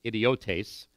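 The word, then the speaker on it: ἰδιώτης: it's actually pronounced idiotes, but we get our word idiot from it.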